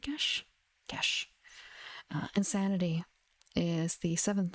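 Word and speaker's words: geas: Just question, like, I would pronounce it as Gesh, but I've heard other players of the game who don't know what that word is from pronounce it more like geese or gas, but I'm pretty certain it's supposed to be more like Gesh.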